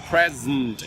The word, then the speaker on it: present: it's reduced and modified take a look at another word present for example prayer the accented syllable we say it perfectly prayer the second syllable sent we don't say then present we say present it's reduced and modified salt purchase present I